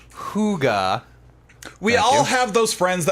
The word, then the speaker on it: hygge: now let's BA see it's pronounced hygge we all have those